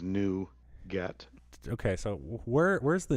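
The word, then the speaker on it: NuGet: is it you nougat they all say it like the candy bar nougat okay yeah even though we both know it means new get okay so where where's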